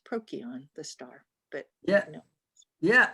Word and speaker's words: Procyon: that sound for c it was a k sound and so it would theoretically be pronounced prokion the star but yeah